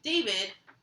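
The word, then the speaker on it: d4vd: I know like one song that's pretty common like the chorus sticks to your mind but so David which is D4 VD is the name how to spell it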